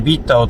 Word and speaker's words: BitDAO: 今回は新しい仮想通貨ビッタオ、ビットダオと書いてビッタオと呼ぶ、仮想通